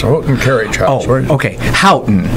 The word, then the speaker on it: Houghton: Houghton is how they say it.